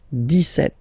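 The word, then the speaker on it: dix-sept: But then for the pronunciation, 17. Okay, so you don't insist on the S.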